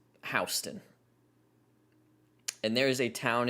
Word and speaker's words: Houston: There's a town in the state of Georgia that is spelled Houston, that is pronounced Houston.